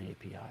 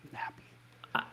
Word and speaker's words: API: i just remembered it's i think it's pronounced an api not nappy oh i i'm thinking